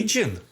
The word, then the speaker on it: Hagen: Hagen. So Hagen. Like Cajun? So he says Hagen rather than like the Hagen in Häagen-Dazs.